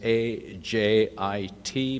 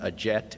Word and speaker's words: Ajit: It's A-J-I-T, pronounced Ajit. It's not Ajet. It's not Ashit or any of that stuff.